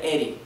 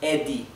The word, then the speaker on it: Eddie: Por ejemplo, esto nunca se pronunciaría Eri, es Eddie, ¿verdad? Porque es doble D, Eddie.